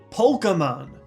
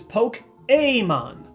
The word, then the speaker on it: Pokémon: a bus you Pokemon the easiest way to remember that this is also a wrong way to say it is that weird Al has a parody song Pokemon and if you're doing the paa the pronunciation is anoba the right way to see this franchise even if it doesn't roll that well off the tongue is poke Amon in English you'll see the acute